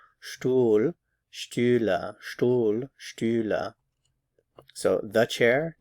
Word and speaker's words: Stühle: Die Stühle, die Stühle. Notice that there's an umlaut there, so that changes your pronunciation. Stuhl, Stühle, Stuhl, Stühle.